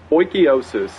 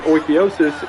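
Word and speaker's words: Oikeiosis: Oikiosis, and according to the internet that is how it's pronounced, I looked one up this time, is closely related to ideas of Stoicism.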